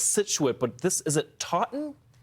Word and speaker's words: Taunton: then I'm going to need help with the pronunciation of this name as well. I know it's Scituate, but is it Taunton? Taunton.